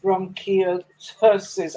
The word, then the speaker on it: bronchiectasis: But before then, you had lived 20 years of your life with bronchiectasis. I took time to try and listen to pronounce that, but please help me pronounce that.